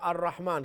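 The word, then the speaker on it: الرحمن: The ra will be haruf shamsi because alif lam before is silent, and So ra is what? haruf shamsi. Shamsi, why? Because the lam is Because silent.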